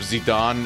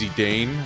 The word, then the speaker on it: Zidane: used to pronounce uh instead of zidon it's zidane I I pronounce it